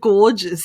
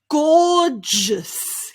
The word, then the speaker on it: gorgeous: suppose gorgeous now again the spelling and the pronunciation are quite different and that's why people have difficulties with this here i've got my